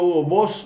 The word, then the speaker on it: Hugo Boss: Así lo pronuncian los que lo hicieron, ¿verdad? No muy es O, sino que es entre O y U y E.